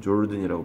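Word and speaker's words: Jordan: 하는 나라를 간호가 꿈꿔왔대요 요르단이라고 발음하는데이 나라 사람들은 자기 나라를 요르다 이렇게 하는데 영어에서는 조르든이라고 발음합니다 우리가 성경에서 이거를 요단이라고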